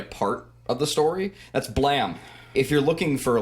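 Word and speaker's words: Blame!: it up it's spelled blame exclamation point because japanese translation but it's pronounced blam it's supposed to be like a gun going off like blam blam but it's you know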